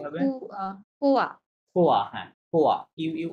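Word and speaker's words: quoi: এটা মনে রাখবেন, কিউ এর পরে ইউ থাকলে ওটা নরমালি কি থাকবে? সাইলেন্ট থাকবে, ঠিক আছে? তার মানে আমরা ওটা বাদ। তার আমরা জানি যে ও এবং আই থাকলে কেমন সাউন্ড হবে? ওয়া সাউন্ড করবে, তাই না? তাহলে কোয়া কি হবে?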